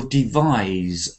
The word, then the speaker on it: devise: to fix this I I have a device which does this a device but I will devise something so the verb is is z and we saw this